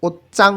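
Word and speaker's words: 옷장: এরপরে থারা বলতেছে ওচ্চাংদো, এখানে ওচ্চাং উচ্চারণ হবে, জিউত চয়ের মতন উচ্চারণ হবে।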